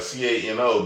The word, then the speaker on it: Cano: Now, it's spelled Cano, like Cano, but this motherfucker Hispanic, so it's Cano.